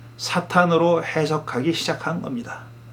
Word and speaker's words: 사탄: 말이에요 그때도 무사가 기본입니다 동사로 서의 사탄은 발음을 하자면 은 이제 동사는 뒤 엑센트 에서 사탄 이라고 발음하고 금영 4일 때는 앞에 제트 두고 그렇게 바라죠 그 동사 로서의 사탕